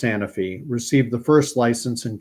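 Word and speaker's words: Sanofi: not how mRNA Works s sany or sanfi I think it's pronounced sanify received the first license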